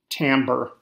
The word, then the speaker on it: timbre: Timbre the r before the E throws a lot of people off usually words have an ER ending and it is pronounced like many other ER ending words 20.